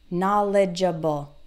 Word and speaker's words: knowledgeable: jaw bowl okay and the stress is on the first syllable na na label na label knowledgeable knowledgeable eligible okay if